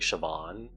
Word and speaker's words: Siobhan: okay here you go it's like sioban sounds like Siobhan oh really and like